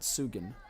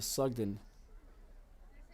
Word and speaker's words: Sugden: I believe it is Julia Sugden, not Sugan, as that was incorrectly spelled in the scorebook. So we do want to get that corrected while we have a chance. Julia Sugden for FC is the proper pronunciation and spelling for that.